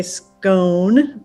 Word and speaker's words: scone: just go some say scone but it if you can remember the word gone scone rhymes with gone so that's how